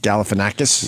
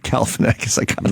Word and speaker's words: Galifianakis: All right, when we get back, we got the Obama Funny or Die interview with Zach Galifianakis. Yes, I want to hear that. I could finally pronounce his name after all these years.